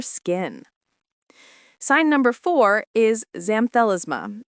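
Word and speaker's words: xanthelasma: Sign number four is zamthalisma, pronounced zamfel asthma.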